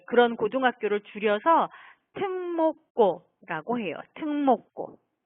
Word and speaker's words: 특목고: 네, 특목고가 아니에요, 여러분. 이 세 개의 단어를 한꺼번에 발음을 하면 이렇게 발음해야 해요. 네. 자, 발음 나는 소리대로 하면 이걸 발음 나는 순서대로 하면 특목고. 네. 이렇게 발음이 돼요.